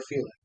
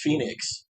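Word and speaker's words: Fenix: Or Felix. Felix the cat? I'm pretty sure they call him Ray Felix. No, it's Phoenix.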